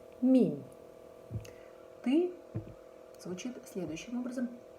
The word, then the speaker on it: мин: Мин. Мин.